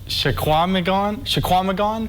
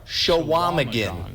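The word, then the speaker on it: Chequamegon: Do you have any idea how you pronounce this? You're drawing a blank. Shaquamagon? You're not far off with the end here. We have the answer as well. Take a look. So you're not far. Shawamagan.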